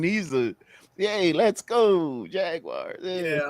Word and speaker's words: Jaguar: I say Jaguars. I go Jaguars. Jaguars. That That's how they say it in England.